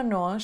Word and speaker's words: nós: A palavra nós, escrita com um acento em cima da letra O, pronuncia-se com O aberto. Nó. Depois disso temos o som sh. Nós. Nós. Não é nós.